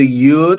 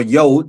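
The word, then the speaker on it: יוד: Is either Yud or Yod. Some either pronunciation is acceptable, and it means hand.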